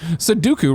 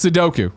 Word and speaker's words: Sudoku: warfare is on switch Sudoku relax Sudoku no it's the Doku yeah like Count Dooku because I like to